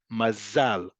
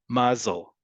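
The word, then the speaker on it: מזל: In modern Hebrew, the default pronunciation is always on the last syllable. Mazal, mazal. In Ashkenazi Hebrew, the default is on the penultimate, the second to last one. Mazel, mazel.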